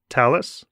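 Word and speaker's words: Thales: talis lab in France is that how you pronounce talus yeah perfect okay great so you do work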